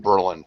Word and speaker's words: Berlin: __ ] Berlin Wall Berlin if you're from Ohio it's pronounced Berlin don't ask me why